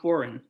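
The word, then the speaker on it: Foran: the main prosecutor tom foreign or ferand some people pronounce it was the main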